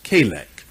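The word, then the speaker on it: חֵלֶק: again we'll get it right c-h-e-l-e-q but the pronunciation is kalak it's translated nicely this year but now that's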